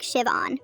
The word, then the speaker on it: Siobhan: The H is silent. It's pronounced like Shivon.